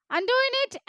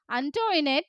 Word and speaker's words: Antoinette: Most of them pronounced it ആസ് അന്റോയിനെറ്റ്. കൂടുതൽ ആളുകളും അത് എങ്ങനെയാണ് വിളിച്ചത്? അന്റോയിനെറ്റ് എന്നാണ്. ബട്ട് കുഞ്ഞിച്ചിരുത learned from Antoinette that the name ought to be pronounced Antoinette.